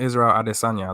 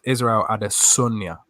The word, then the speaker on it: Israel Adesanya: His name is not Israel Adesanya. That is not how you pronounce it. It's pronounced Israel Adesanya.